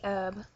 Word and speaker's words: herb: I don't know if anyone says that really, but example would be herb. So herbs, we don't say the H.